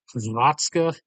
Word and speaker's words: Hrvatska: Hrvatska. See, it's the like HVR, all back to back to back at the front.